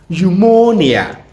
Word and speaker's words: pneumonia: It's pronounced pneumonia.